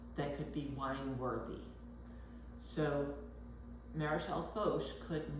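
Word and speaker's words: Maréchal Foch: It's Marechal Foch, okay?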